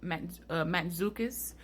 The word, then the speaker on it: Mantzoukas: Jason, I believe his last name is pronounced Mantzoukas, who plays Dionysus.